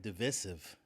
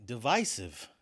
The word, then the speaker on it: divisive: a word last episode I said divisive I'm shocked that you even knew I pronounced that word wrong it's actually divis I'm I'm I'm such